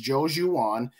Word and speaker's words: Joejuan: We signed, and I'm see if I can get it right, Joejuan Williams. Williams is easy enough, but I believe the pronunciation is Joejuan, cornerback from the New England Patriots.